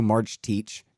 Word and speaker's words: Marcetic: It's Bronco March Teach. That's how he told me to say it. It's spelled like Marcetic.